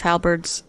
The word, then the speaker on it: halberd: When Gary was talking about those halberds on the fireplace, I wanted to be like, it's pronounced halberd.